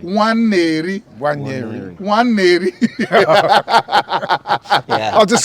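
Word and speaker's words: Nwaneri: Waneri, that's how his name is pronounced. Waneri. Waneri.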